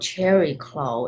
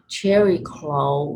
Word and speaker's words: Chariklo: And some of you know that there's a almost new planet, a minor planet called Cherry-Clo. It's spelled Chariklo, and I love receiving energy and light language from Cherry-Clo because, as you all know Chiron, the wounded healer.